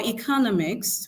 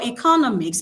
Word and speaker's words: economics: And then for economics, we have the stress on the penultimate syllable.